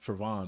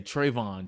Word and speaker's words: Travon: kind of side so my name is actually pronounced Travon but like growing up so many people jacked it up yes so they would say Trayvon Trevon TR like just whole bunch of Renditions like totally wrong and like growing up